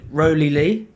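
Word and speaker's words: Rowley Leigh: So the pronunciation of it. So Rowley Lee.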